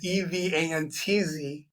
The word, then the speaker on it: Evans: And it's spelled Evans. Actually, no, it's not spelled that way because everybody says it like that. But it's Evantz Sells Homes.